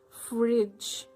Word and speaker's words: fridge: g e okay the there are three consonants d g e but they make sound J which makes fridge fridge judge okay so D is silence and g e so this G is soft G makes the sound J not g okay so this is